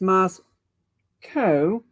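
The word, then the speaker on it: Moscow: out with my pronunciation it's MOS Co rhymes with Co and Co Burger so that should help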